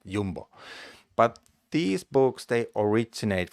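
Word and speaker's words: Jumbo: or Jambo I think in Denmark they pronounce it yumbo but these books they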